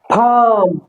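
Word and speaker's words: palm: मुह खुलेगा hand hand फम normal फम आ एल बोलने की जरूरत नहीं है एल य क्या हो जाएगा साइलेंट हो जाएगा उसके बाद में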